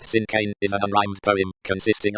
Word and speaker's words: cinquain: Compact and loaded with descriptive words since when pronounced sincane is a rhymed poem consisting of five lines